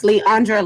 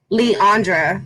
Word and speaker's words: Leandra: you tuning in your name is right you butchered it it is leandra linder but nicknamed oh say it again lee andra lender nickname yeah year ago